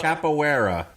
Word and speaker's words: Capoeira: It's Capoeira. Brubacher. Capoeira. Everybody hold their dicks as we cross the pronunciation bridge.